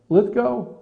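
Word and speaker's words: Lithgow: that yeah that's him is that how you pronounce his name yeah litho litho yeah does a great Churchill in fact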